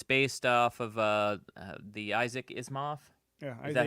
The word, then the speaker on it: Asimov: It's based off of the Isaac Asimov. Yeah, is that how you Asimov, say?